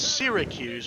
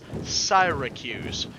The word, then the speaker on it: Syracuse: city being siren Hugh's we want to say it's Syracuse because that's you know how the US city is pronounced but it's saira Q's founded on the end